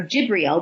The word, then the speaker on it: Gabriel: I do believe that based off the 9 numerology, may be allowing himself to be guided by the angel Gabriel, or Jibriel would be another pronunciation of the name.